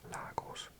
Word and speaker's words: Lagos: Relative to Britain, speakers of American English often use the pronunciation Lagos, which is more similar to the original Portuguese pronunciation.